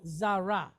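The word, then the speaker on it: זרע: Even though this is a silent letter, we're looking at a we're looking at a root word. So we need a sound at the end. So what we normally do would be kamatz patach, right?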